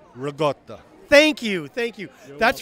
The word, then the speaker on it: ricotta: I want to ask you being an Italian, do you pronounce it raotta or ricotta? Just want to know. Raotta.